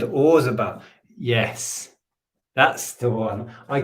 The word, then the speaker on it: Roland Orzabal: Roland Orzabal. Is that how you pronounce it? Roland Orzabal.